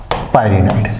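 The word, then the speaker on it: pyrenoid: मैंने पिछे लेक्चर में डिस्कशन किया था इसका स्पेलिंग होता है पी वाई आरई एन ई एन ओ आईडी पायनाड ध्यान खिए मैंने बताया ये जो पायनाड है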